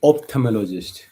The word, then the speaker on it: ophthalmologist: Okay, that's called ophthalmologist. And note the ph preceding th. So ophthalmologist is spelled as OPTHALMOLOGIST. PH preceding TH is from Greek ophthalmos, eye, plus logos, science.